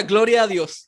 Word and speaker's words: Gloria a Dios: I would say this, Gloria a Dios. Did I say it right? Yeah. Gloria a Dios.